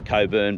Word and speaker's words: Cockburn: We're only about 70ks off the border from a little place called Cockburn. I pronounce Coburn, but where's the maturity in saying it that way?